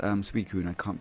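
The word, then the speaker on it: Suicune: I just need to be online 32 hours more to be able to catch Entei Raikou Siku. Even though I know it's pronounced Suiku and I can't pronounce it.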